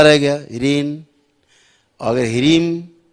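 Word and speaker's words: ह्रीं: जैसे कहीं आप पढ़ते हो, आता होगा बीज मंत्र में ह्रीम, तो ह्रीन नहीं पढ़ना है, ह्रीम माँ है, ह्रीम ऐसे मुंह बंद हो गया, ह्रीन तो मुंह खुला रह गया, ह्रीन। और अगर ह्रीम तो मुंह बंद हो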